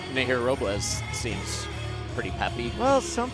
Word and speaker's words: Robles: Fighting out of San Juan, Puerto Rico, La Chica de Hola, Hola, Nahir Robles. See, I was going to tell you guys, you got to roll your R, but Shane did it for you.